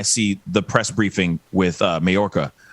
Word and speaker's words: Mayorkas: Wrapped up, walked out, and I see the press briefing with Mayorkas. Hopefully I'm pronouncing his last name. But anyway, right. Mayorkas? Mayorkas. Yes, thank you. Mayorkas.